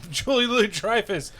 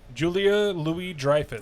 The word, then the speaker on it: Julia Louis-Dreyfus: all it's julie treifus or her julia julie say her name for me julia louis-dreyfus thank you she was elaine in